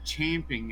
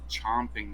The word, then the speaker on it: champing: Forget that it's champing at the bit, not chomping at the bit.